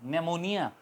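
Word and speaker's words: pneumonia: infection हो जाता है उससे निमोनिया कहते हैं उसे बीमारी को तो वो एन से अनाउंस होती है निमोनिया मगर उससे पहले पी आता है तो पी एन से पहले आएगा तो हमेशा वो साइलेंट रहेगा आवाज नहीं करेगा इसी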